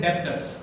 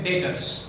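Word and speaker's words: debtors: कई बच्चे इसका रॉन्ग प्रोनाउंसिएशन करते हैं, ठीक है, इसका प्रोनाउंसिएशन करते हैं डेप्टर्स। बच्चों डेप्टर्स नहीं होता है, इसका राइट प्रोनाउंसिएशन है डेटर्स।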